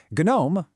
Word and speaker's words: GNOME: GNOME, and yes the G is pronounced on purpose, takes a vastly different design approach.